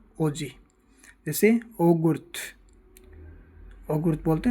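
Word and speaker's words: oggi: एक नोट लगा कर बात याद रखना, जब दो जी एक साथ आ जाए यानी डबल जी का उच्चारण आई तथा ई से पहले ज की तरह होता है। जैसे ओजी, ओजी यानी आज।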